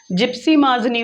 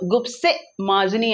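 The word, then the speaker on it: Giuseppe Mazzini: अगर इंग्लिश में प्रोनाउंस करेंगे तो जिप्सी माजनी होगा, और इटली में इटालियन, ये इटालियन वर्ड है, तो गुप्से माजनी आपको इसको पढ़ना पड़ेगा। That is अप टू यू, आप इसको कैसे पढ़ने वाले हैं, इंग्लिश में प्रोनाउंस करने वाले हैं या इटालियन में प्रोनाउंस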